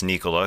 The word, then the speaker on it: Nikola: by his wife Natalia it was good to hear his name pronounced Nicola by his wife so we all know it's Nicola because last year I happened to be right in front of Michael Malone he always pronounce Nia it's it's Nicola for sure but I will say